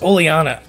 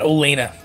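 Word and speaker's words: Oleana: wings I've realized that I've been pronouncing her name completely wrong in the whole time it's oleanna not Elena it's oleanna and now bidet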